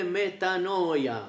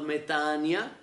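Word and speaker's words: μετάνοια: الكلمة اليونانية مكتوبة ميتانويا، ميتانويتي، ميتانويتي، اليوم تلفظ ميتانيا.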